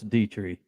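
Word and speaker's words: Detry: It is Thomas Dietrich because it Told you. rhymes with Petri dish.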